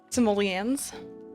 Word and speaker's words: simoleons: Simoleons? That's how you pronounce it?